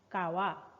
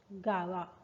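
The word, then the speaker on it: 川: Kawa. River. Nairu. Gawa. If this kanji comes after a river's name, this pronunciation changes to Gawa.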